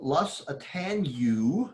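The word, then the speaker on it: lusitaniae: So this one is called Lus Atanu, is how you pronounce that.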